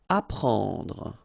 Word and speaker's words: apprendre: Apprendre. Alright, so combination of and n gives you this nasal en, okay, and then prend, apprendre. Tuer.